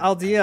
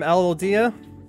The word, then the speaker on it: Alodia: you shout them out I'm not aldea I'm Alodia okay sorry I'm so